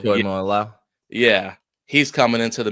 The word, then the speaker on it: Tuimoloau: Hold on, I phonetically put it in there so I can make sure I said it. Tuimoloau. Tuimoloau. Tuimoloau.